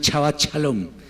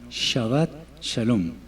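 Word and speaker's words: שבת שלום: el idioma hebreo entonces no es chavat shalom sino shabat shalom bien no es moch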